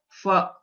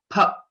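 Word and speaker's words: फ: So a few people pronounce this letter, the second letter in pavarga, as fa. Okay, but the right pronunciation is pha because both our lips should come together.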